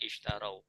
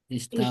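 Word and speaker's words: اشتروا: Kalau kita baca sendirian isytarau, kita bacanya isytarau. Tapi kalau disambungkan dengan alhayata istaru istaru ya istarul hayata ya tidak dibaca istarau alhayata sulit.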